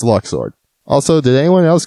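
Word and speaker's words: Luxord: right by the way I just can't accept Luke's sword I'm sorry it's been too long Tetsuya you had your chance in Kingdom Hearts 2 to say his name but no it's Locke sword also did anyone else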